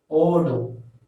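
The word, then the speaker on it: ஓடு: The action of running represents odu, and odu represents run in English, and we have to pronounce this as odu. Odu means run in English.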